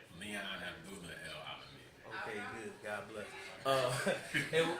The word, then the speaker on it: Leon Abdullah El-Alamin: Leon, how do you pronounce the whole name? Leon Abdullah EL-ALAMIN.